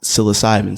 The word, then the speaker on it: psilocybin: saying like he even like so it's it's pronounced psilocybin so what you may have seen you may